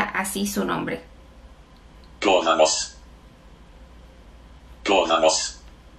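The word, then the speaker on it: Goðafoss: Es realmente el nombre de una cascada que se encuentra al norte de Islandia y se pronuncia así su nombre. Guðanos.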